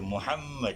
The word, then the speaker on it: Muhammad: Tapi kalau kita lihat tulis jarinya macam 4 huruf aja. Mim 1, ha 2, mim lagi 1, dal 4. Jadi 4 huruf. Tapi bacanya Muhammad. Bukan aja bukan aja jadi dengung kan. Bukan ada double mim. Mim ada double. Jadi Muhammad. Ya.